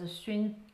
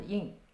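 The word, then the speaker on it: 窨: That character can be pronounced as Xun, talking about the process of doing scented tea. Or you can also pronounce it as Yin, which means like a basement-ish kind of thing.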